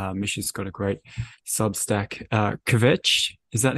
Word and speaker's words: Kvetch: Kvetch, is that how you pronounce it? Yeah, Kvetch.